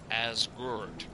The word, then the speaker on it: Asgard: Tales of Asgard, or as we learned from Len yesterday, it's pronounced more like Asgard, and it basically means a farm on a